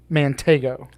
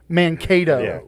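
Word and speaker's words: Mankato: So, it it's Minnesota State University, Manego. Close. You're so close. So close. Mano. Mano. Sounds kind of like a gay vegetable. Mano.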